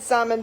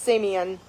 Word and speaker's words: Simeon: So Jacob, with Leah, had Reuben, and I said Simon, but it actually, I think, is pronounced Simeon.